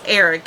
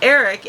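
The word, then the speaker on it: Airk: Then they also cut to their son, who is Eric, and I love the spelling of Eric. It's spelled A-I-R-K. Love that spelling. Anyway, Eric, and he is having a picnic.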